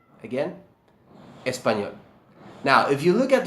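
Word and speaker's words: español: say Spanish in Spanish and the answer is espanol again espanol now if you look at the word espanol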